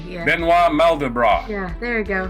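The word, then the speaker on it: Benoit: wasn't but other birthdays benoi Mel mandal broth polish born French americ mathematician yeah don't pronounce the T benoir malra yeah there you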